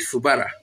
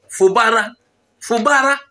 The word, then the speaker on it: Fubara: By the way, why am I calling it Fubara? Fubara. I'm using the wrong pronunciation. Fubara. No, Fubara. Fubara yamba.